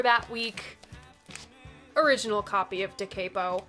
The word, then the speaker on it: Da Capo: Original copy of Da Capo. Yes, I pronounce it Da Capo. Johnny Eccles himself pronounces it Da Capo. Who am I to tell Johnny Eccles he's wrong?